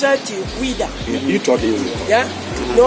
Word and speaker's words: Ouidah: Daomé, you pronounce it Ouida.